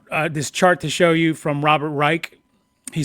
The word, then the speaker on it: Reich: chart this chart to show you from Robert Reich. He says his name wrong. He says Robert Reich, but everybody knows it's Robert Reich.